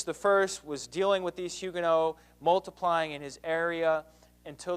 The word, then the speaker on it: Huguenots: In France, the Protestants there are called Huguenots, spelled Huguenots, but pronounced Huguenot.